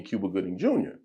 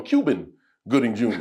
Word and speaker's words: Cuba Gooding Jr.: funny to call me Cuba Gooding Jr. but he mispronounced his name and called him Cuban Gooding Jr.